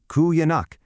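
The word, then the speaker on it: qujanaq: It's kuganak. It's pronounced pretty much like kuyanak, and it just means thank you.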